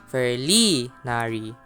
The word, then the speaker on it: Ferlinari: Starting off with Ferlinari, pronounced as Ferari, they're known for agility, stealth, and independence.